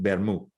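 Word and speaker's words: vermut: you do have a tea you would not pronounce it so that's where you get bermu so you know vermouth is just red wine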